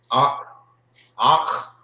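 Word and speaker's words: אח: Some people say it so fast you will not hear like the pronunciation that the you hear Akh. Sound like you're saying it with a K, the K-A, Akh. But it's Akh.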